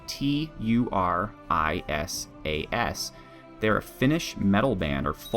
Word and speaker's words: Turisas: That's spelled Turisas.